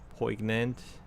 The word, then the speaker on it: poignant: He said it wrong again. Poignant. I did not pronounce the G.